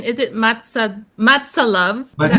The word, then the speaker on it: MATSALUV: Oh, paano ba iyung pronunciation? Is it mats? Matsa love.